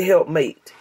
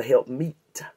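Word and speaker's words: helpmeet: to say it right you can't say helpmate the Bible doesn't call it a helpmate it's a help meat watch the word watch the word it's help meet me e t it's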